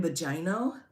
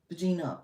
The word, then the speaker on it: Bongino: Oh, Dan Bogino? Is that not right? Right? Is that not? It's Bongino? How do you get Bongino out of that? Bongino.